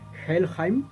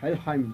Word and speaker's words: Helheim: inframundo nórdico o vikingo, el llamado Helheim, o Helheim, como lo quieran ustedes pronunciar.